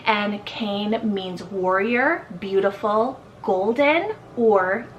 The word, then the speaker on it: Kane: Now Cain, depending on how you pronounce it from where you are in the world, it is a Celtic, a Japanese, and Hawaiian rooted name. It's also pronounced as Kane, but Cain is what I heard, and Cain means warrior,